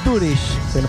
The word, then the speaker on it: Doorish: y acabamos de escuchar aquí a Rafael Rafael dur se pronuncia bien así exa teníamos algunas dudas Qué